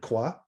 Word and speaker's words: Croix: of the rose croix rose croy by the way is the most popular way of pronouncing this in my neck of the woods i think those of us who are more particular about french french will uh use the word qua for uh the second word but i'll